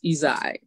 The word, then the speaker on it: Ysaye: My father's name was Irving, and I'm Ysaye or Ysaye. I think the traditional pronunciation is Ysaye, but I didn't know